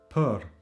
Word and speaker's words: për: So this letter is pronounced like It's a very relaxed, unstressed This vowel also exists in English, for example, as the A in about. About. This is the sound. In Albanian, this is often not pronounced. I will come to that later. But we have words where this is pronounced, like in për.